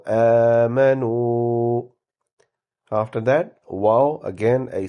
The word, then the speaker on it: آمَنُوا: Prolongate the alif, do not prolongate meme, and prolongate noon and waw. So آمَنُوا.